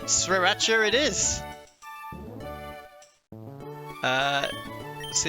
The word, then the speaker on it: Sriracha: So, the So, the first R is kind of silent. Done. Sriracha.